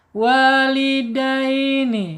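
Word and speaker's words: وَالِدَيْنِ: Dai ya, lin ya, baca lin miring ya. Walidaini ya, miring ya, sifatnya halus lembut ya, tidak boleh dikasarin ya kalau lin. Walidaini ya, nun nih.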